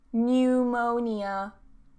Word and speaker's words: pneumonia: And then this one, pneumonia, pneumonia, pneumonia, no P.